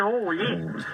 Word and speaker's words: Olé: prononce plus comme les Espagnols, Olé.